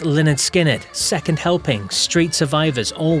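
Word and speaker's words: Lynyrd Skynyrd: Pronounced Leonard Skinnard, second helping, Street Survivors all went double platinum.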